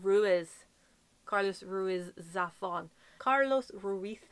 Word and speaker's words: Ruiz: And the beautiful thing that I love about the audiobook is he pronounced everything right. Ruiz. Not Ruiz.